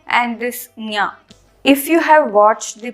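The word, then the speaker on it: ञ: This nya is part of the Talavya group, and it is also an Anunasika. So this sound has to come from the Talu region. Talu is nothing but the hard palate region, plus from the nose. So this is pronounced as nya.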